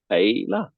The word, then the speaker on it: Heila: like just say hey, like you're saying Hey. Hey. And then you just Heila. say la. Hey la.